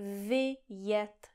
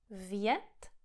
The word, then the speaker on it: vyjet: Tohle slovo má dva vokály, dvě slabiky. I, e. I, e. Vyjet, vyjet. Vjet, vyjet. A když tady zredukujete ten první vokál a řeknete něco jako vjet, vjet, vjet, tak můj český mozek si řekne vjet, vjet, vjet, vjet, vjet. Můj český mozek to pravděpodobně bude interpretovat jako to první slovo, jako vjet.